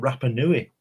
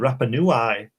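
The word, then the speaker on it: Rapa Nui: your show my book my book is about a place called rappanui and you said rap a new eye i know i live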